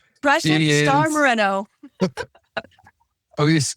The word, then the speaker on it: Moreno: Yes, it's Precious Star Marino. Precious Star Mareno. Oh, you pronounce it Marino.